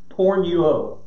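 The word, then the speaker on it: πορνεύω: by definition or by the greek word that word is porn you owe porn you owe is how it's pronounced and it's to commit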